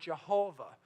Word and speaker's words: Jehovah: petrol graviton is pronounced some people add a J sound into it and get the word Jehovah so you've heard you